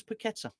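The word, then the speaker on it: Paquetá: Rodriguez is there Lucas petta we found out it is petta by the way Gio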